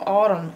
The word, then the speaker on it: autumn: missing it in Sometimes some words have silent letters in them and this is one of those tricky words that has a silent letter in it and on the very end of autumn is an in but you don't hear that in it's a silent letter all you hear is the um sound that's the